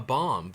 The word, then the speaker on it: bomb: be a link has bomb yes but you also if you think that you pronounce the B at the end of bomb you might be kind of dumb but if you know